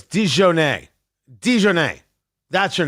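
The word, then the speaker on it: DiJonai: Also, it's Dijonay. Dijonay. That's your name. Dijonay uh Carrington. Is it It's Dijonay. Dijonay. Like shoe. Deshoenay.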